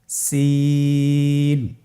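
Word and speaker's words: سين: যা এর মতই জায়ের যে মাখরাজ সিনেরও একই মাখরাজ আপনারা সিন হরফটি আবার উচ্চারণ করুন সিন আবার উচ্চারণ করুন সিন মাশআল্লাহ আলহামদুলিল্লাহ আমরা অল্প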